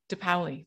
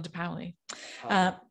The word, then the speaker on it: De Paoli: and how do you say your last name de paoli de paoli and to our audience thank you so much